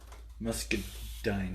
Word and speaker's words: Muscadine: Basically rhymes with wine. Muscadine.